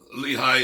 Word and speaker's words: Lehi: syllable of lehi's name sometimes Lehi is as we've said before is pronounced with one syllable uh Le or or